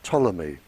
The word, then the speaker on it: Ptolemy: by the name of ptolemy uh spelled with a p he very famous scientist